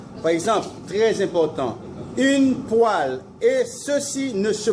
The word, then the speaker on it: poêle: Et poêle, c'est quoi?